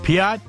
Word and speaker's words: Piotr: fantastic Fantastical hey uh the pronunciation of your name is Piat correct is the uh the Polish pronunciation the proper way to say it there's a slight Trill on the r but you could say it fast and you can skip the r it's fine um yeah